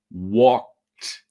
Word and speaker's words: walked: carefully to the pronunciation walked in the past okay so you say we walked I know you can see a d but it's actually pronunciation of a t okay we walked through